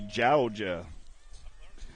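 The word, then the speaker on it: Jawga: gets JoJo that's with a J yeah j-a-w-g-a jalja Robinson Hensley Babinski Vaughn Taylor and dangman oh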